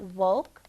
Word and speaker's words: woke: It has a silent E at the end. Say again. Yeah, that silent E, it doesn't make any noise, but it does make the O say its name.